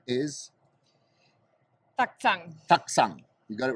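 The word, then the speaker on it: Taktsang: Taksang.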